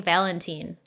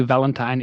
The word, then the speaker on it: Valentin: pronouncing your name wrong i've been saying valentin that's okay as well so probably valentine is much easier to pronounce especially for english people but english-speaking persons but valentine is what do